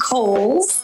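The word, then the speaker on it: Cowles: much it is pronounced kohl's uh george cole was a an early land owner developer out in the east county area so holes mountain like the department store and back by popular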